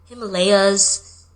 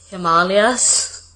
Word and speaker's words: Himalayas: literally anytime it has to do with a pronunciation of an Indian word I'm the one who's being corrected like ashw gandha and Himalayas it's Himalayas him aswagandha I feel like every time I